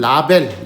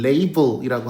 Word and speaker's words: label: 그다음 보통 이제 한국말로는 라벨 라벨이라고 하지만은 영어식 발음으로는 레이블이라고 하죠.